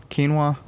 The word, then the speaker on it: quinoa: or green beans and say that again for Noah quinoa oh okay yeah sure just so you don't look like a jackass next time you order this quinoa that's alright pronounced French I can't tell you much about it but I know the pronunciation and it's good for